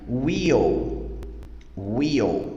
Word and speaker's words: we'll: Pronúncia dessa estrutura correta seria will, ok?